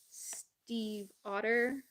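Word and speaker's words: Leigh Bardugo: Steve Otter. Okay. Steve Otter is how you pronounce it.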